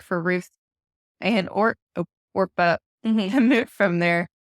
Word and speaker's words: Orpah: that was Ruth and Orpah. You want to say Oprah, the way it's spelled, but it's not. It's Orpah.